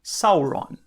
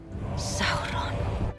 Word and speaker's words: Sauron: Por exemplo, no inglês comum, o normal seria falar Sauron, com aquele R mais enrolado. Mas seguindo algumas regras de pronúncia do legendário, esse R fica diferente.